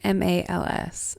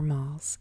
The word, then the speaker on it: MALS: i love you today we're talking curps and malls c-r-p-s and m-a-l-s at least the second one has something that you can pronounce but curps is a little odd to